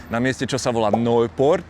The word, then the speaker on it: Nørreport: We're starting in the center at a place called Nørreport. That's how it's pronounced in Danish.